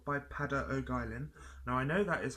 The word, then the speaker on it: Peadar O'Guilin: takete I then also purchased the call by pada Oak Island now I know that is how you pronounce his name because there was a series